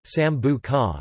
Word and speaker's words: Sambuca: Sambuca, Italian pronunciation, Sambuca, is an Italian anise-flavored, usually colorless, liqueur.